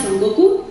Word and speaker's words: Son Goku: y sus 3 discípulos, Sun Wukong, o de acuerdo a la pronunciación japonesa, Son Goku, que es el Rey Mono, Shu Baiye, que es un cerdito, y Xiao Wuji.